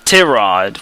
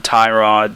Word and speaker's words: Tyrod: tyrod taylor or now he pronounces it as tirod which is kind of threw me for a loop because everyone keeps calling him tyrod tyrod i think i'll still